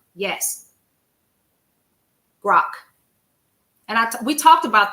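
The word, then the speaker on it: Grok: Grock. Yes, Grock.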